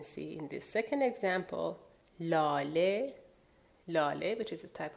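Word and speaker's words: لاله: Now the word lale technically ends in he, but the he is not pronounced. The he is mute, so lale. You don't say lale.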